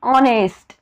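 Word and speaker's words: honest: एन का घेतला आहे ज्या वेळेस आपण ऑनेस्ट म्हणतो ऑनेस्ट म्हणतो त्यावेळेस एच हे काय आहे सायलेंट आहे पण जेव्हा ऑनेस्ट म्हणतो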